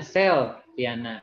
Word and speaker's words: Selviana: Contohnya Selviana, gitu kan dibacanya Selviana. Berarti selnya yang stress syllables-nya.